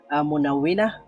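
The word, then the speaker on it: مً: ন সাউন্ড যোগ হবে তাহলে মিম ফাতাহাতাইন মান মিম ফাতাহাতাইন মান হবে আমরা একটু আগে দেখেছিলাম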